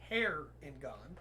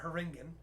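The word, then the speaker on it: Harengon: uh next up is heron god okay and i checked the pronunciation guide it is hair in god yeah not haringen uh they originated in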